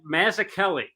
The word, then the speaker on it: Mazzucchelli: sweaty boys out there so so what the mazza kelly we're doing sir yeah what did i say am i pronouncing that mazakelli yes that's what i've always been told but